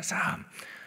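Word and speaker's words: Psalm: 우리가 시편의 말씀, 오늘 본문 말씀을 참고하기 전에 시편의 어떤 개론적인 의미를 잠깐 나눈다면, 이 시편이 영어 성경으로는 뭐라고 이렇게 읽는 줄 아십니까? 어원적 의미를 보면 사함이라고 읽습니다. 사함.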